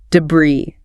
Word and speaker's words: debris: Debris. Debris. Silent s. Stress on the second syllable.